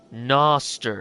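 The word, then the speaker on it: Gnoster: Noster. It's spelled Ganoster. Oh, Noster.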